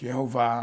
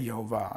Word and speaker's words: Jehovah: Some people think it's pronounced Yahweh, others think it's pronounced Jehovah. I say Jehovah, and I have good reason to.